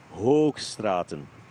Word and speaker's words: Hoogstraten: And a double O in Flemish does not say oo. It says O. Hoogstraten.